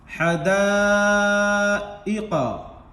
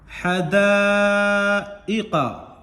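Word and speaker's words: حَدَائِق: दाल अलिफ मद ज़बर दा, इसको 4 से 5 अलिफ के बराबर खींच कर पढ़ना है, ये चूंकि ये मद्दे मुत्तसिल है, मद्दे वाजिब। हमजा इसी कलिमा में हुरूफ मद्दा के बाद आ गया। हुरूफ मद्दा किसको कहते हैं? ये अलिफ हुरूफ मद्दा के बाद ये हमजा उसी कलिमा में आ गया है, तो यहाँ ये जो मद है इसको मद्दे मुत्तसिल कहेंगे।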